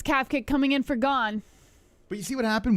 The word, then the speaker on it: Gane: him with his eyes it's pronounced gone unfortunately I see someone say gay instead of gone three minutes and 38